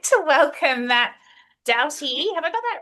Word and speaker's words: Doughty: Uh I would like to welcome Matt Douty.